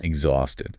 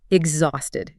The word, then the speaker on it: exhausted: Exhausted. Let's talk about the pronunciation for a second. The H is silent, isn't it? Correct. Exhausted.